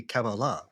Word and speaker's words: Kabbalah: Kabbalah, please. It's supposed to be Kabbalah. Kabbalah. That's right. We're not even pronouncing it right.